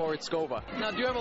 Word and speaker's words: Porizkova: And I'm here with Paulina Porizkova. That's right. I practiced all week, I have to say. Oh, thank you so much, and you did a wonderful job of pronouncing. Porizkova.